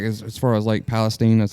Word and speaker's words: Palestine: No, I mean, like as far as Lake Palestine, that's how you say it.